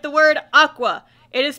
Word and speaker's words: Aqours: spelled like the word Aqua it is spelled a q o u r s and they are somehow able to figure out that it's supposed to be pronounced Aqua even though it makes